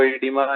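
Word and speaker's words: oedema: ठीक है, चलिए तो अरे भाई ओ ईडीमा, ये ईडीमा बोलो, वो साइलेंट रहता है इसमें।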